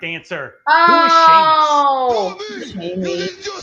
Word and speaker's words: Sheamus: Now, I admit it's a shameful thing trying to figure out the name of a wrestler that rhymes with anus, but the correct answer, who is Sheamus?